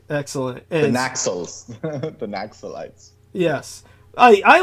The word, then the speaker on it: Naxalite: In Western ears, Naxalite sounds euphonic. You know, Right. But the correct pronunciation, you think, to make it sound more Asian Indian, more correct, would be Najalite or Najalite, something like that.